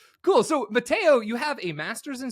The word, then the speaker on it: Matteo: this is Matteo so m is it Mato am I pronouncing that correctly yes you are absolutely pronouncing my name correct it's absolutely correct Mato awesome I uh